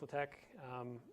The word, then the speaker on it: LaTeX: So first of all, LaTeX is not pronounced latex. It's not the stretchy plastic material. The X, or the final character in there, is the chi, the Greek chi.